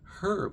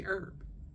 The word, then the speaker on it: herb: don't enunciate as much many letters are silent that in England it wouldn't be like herb we say herb easier lazier is easier